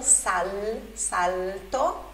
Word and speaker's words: salto: Prendi il mio tempo e la magia, che con un solo salto, olha a pronúncia aí do L antes de consoante, né? L, con un solo salto, pegue o meu tempo